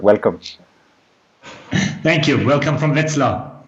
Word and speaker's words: Wetzlar: Welcome from Wetzlar. Wetzlar, there we go.